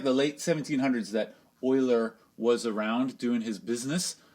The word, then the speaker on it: Euler: it looks like you live but don't say Euler you'll sound stupid if you say Euler its Euler there's a German name so it's pronounced Euler anyway oiler was studying a problem this is not like